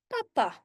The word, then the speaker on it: papa: Again, double P when you write it down, but when you say it, we say papa, papa.